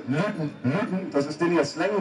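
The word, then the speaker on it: Luton: Er korrigiert mich immer, weil das wird ausgesprochen L-U-T-O-N, also Lüten, das ist den hier Slang wird.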